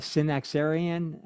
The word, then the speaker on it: Synaxarion: Now, um in your book, you uh I'm going to butcher the the pronunciation of of this, but the Synaxarion, uh how do you pronounce that?